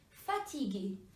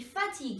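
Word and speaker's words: fatigué: Iggy you should see fatigue fatigue II which means tired now you see fatigue a this is masculine form in feminine form also the pronunciation is exactly same so that's just be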